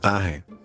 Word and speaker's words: Ángel: Ángel se pronunciaría algo así como Aje, aje.